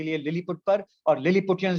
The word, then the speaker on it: Lilliput: Gulliver, इसको Gulliver पढ़ते हैं, लिलीपट पढ़ते हैं, लिलीपुट नहीं पढ़ते हैं।